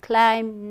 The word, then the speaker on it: climb: i have for you calm climb num so all have be silent right then there was uh